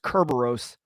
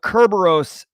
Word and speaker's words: Kerberos: Just as a best practice, this is pronounced Kerberos. The reporter Sarah Lane absolutely butchered this word, but Kerberos is how you pronounce it.